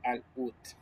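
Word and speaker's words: العود: Eh, al Uud se llama, se escribe árabe, pero se dice al UT.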